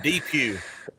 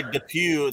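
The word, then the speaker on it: Depew: the same way yeah it's it's de Pew and if you go in there and say the Pew they will run you out of there all right uh hey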